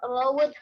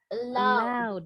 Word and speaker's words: allowed: No animals are allowed here. You can't bring your dog in. Bacanya allowed. Allowed. Yes. Jadi ed-nya nggak bunyi allowed, allowed.